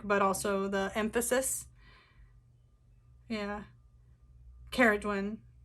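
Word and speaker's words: Ceridwen: Caradwen. Like, I honestly had no idea how to pronounce it. I always wanted to say Saradwen, so to know it's Ke is really helpful.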